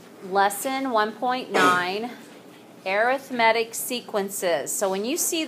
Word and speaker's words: arithmetic: when it's by itself when you put it in front of the word sequence you pronounce it arithmetic sequences if you say it